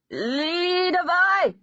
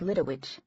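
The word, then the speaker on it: Lidewij: Behind it, I heard a stammering, reedy voice shout, "Leadavai!" Until then, I'd pronounced his assistant's name like Lidowich.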